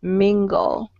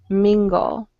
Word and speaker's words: mingle: guys um the word mingle mingle although you see a g-l-e ending all right it usually sounds like g-o-l mingle mingle okay uh-huh and then